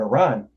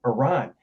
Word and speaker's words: Iran: And my wife pointed out to me because we were talking about Iran, and I was like, Iran.